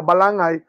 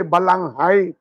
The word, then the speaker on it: balangay: Italian that is why people mispronounce the balangay and they say balanghai silent na ang h